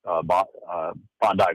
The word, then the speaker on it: Bondi: It's primarily going to be talking about Syria and, of course, what happened on Bondi Beach. Yep. So it's pronounced Bondi.